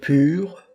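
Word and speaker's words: πῦρ: On reconnaît le français pyromane, avec le y qui se prononce i en français, mais u en grec ancien.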